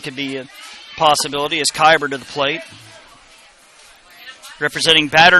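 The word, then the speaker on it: Keiber: to2 put out the 10th batter is Cordell keber kyber said it wrong again kyber with a field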